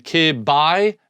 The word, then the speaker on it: kibi: BI, so rather than ki-bi, me-bi, they wanted it, maybe they sounded better to call it B. So it's me-bi, kibi, mebi, gibby, tebi, pebi, egsby, zebi, and yabi. That's how you pronounce them.